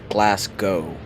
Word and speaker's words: Glasgow: netflix let me check glasgow is pronounced glass go i always do that i hate it but it is short the w is redundant glasgow glasgow glasgow redundant i